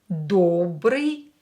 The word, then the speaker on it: добрый: O is stressed here, so pronounce it as O. Don't change it.